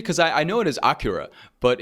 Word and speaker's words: Akira: it right like you you did the Japanese pronunciation the first time so that's what I was wondering is it like Japanese pronunciation because I know it is Acura but it's a but